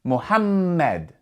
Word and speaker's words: Muhammad: And because there are two m's, you're going to pronounce that m with a bit more strength. You're going to stress that m sound. Muhammad.